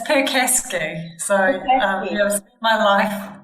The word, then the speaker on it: Percasky: I hope I got your last name correct. So it's a tough one. It's Percasky.